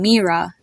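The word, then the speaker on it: Mira: has a e sound that's the same way you would pronounce the name mea m e r a mea or the name Provine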